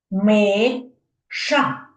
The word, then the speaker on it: миша: Миша ще раз давайте Миша скільки складів так два ми ша Ви чуєте як я голосом виділяю який склад Ну звісно перший тобто перший склад в цьому слові є наголошеним це дітки трошки і